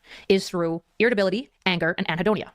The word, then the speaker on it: anhedonia: I've been saying adonia. Anhedonia. I just I was missing the N. I was missing the N. Anhedonia. God, that's embarrassing. I say adonia. I just don't pronounce the N because I I can't read. I'm dyslexic. I just wasn't saying the N.